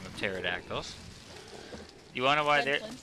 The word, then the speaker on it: pterodactyls: you want to know why pterodactyls are an awesome pet because the p is silent that's nice Bing